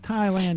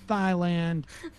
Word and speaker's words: Thailand: some basic understandings of reality, like Thailand is pronounced Thailand, not Thailand.